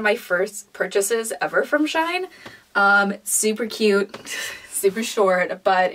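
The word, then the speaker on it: Shein: got off xi'an and our shine as i was told it's pronounced it's just something i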